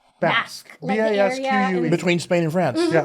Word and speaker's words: Basque: so in the pronunciation are you saying bask or batch basque between spain and france